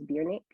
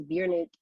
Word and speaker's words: Bjrnck: Her name is Biernick.